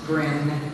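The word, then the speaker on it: Gren: mr elliott iii his name is really lars rhymes with stars grin rhymes with red and so things make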